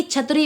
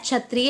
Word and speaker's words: क्षत्रिय: बना है कशा से तो इसका सही उच्चारण होता है कशा या फिर क्षत्रिय ना कि छत्री वाला छा इसको कहते हैं क्षत्रिय यानी कि क्षत्रिय ठीक है अगला पॉइंट